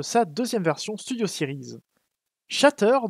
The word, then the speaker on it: Shatter: deuxième version studio siri's chateur dont le nom est bien prononcé comme ça puisqu'il y a de T je note juste au